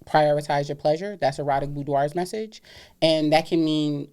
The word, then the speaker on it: Boudoir: That's Erotic Boudoir's message. And that can mean a host of different things. So say that again, Erotic what? Erotic Boudoir.